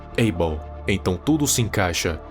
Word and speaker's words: Abel: Abel e ainda mais com a pronúncia em inglês do nome Abel que é ih Ball então tudo se encaixa